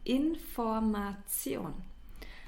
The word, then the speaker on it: Information: information the information and please uh take care of the pronunciation because many English speakers uh pronounce it in an English way and they uh the information that's not it's the information and the other example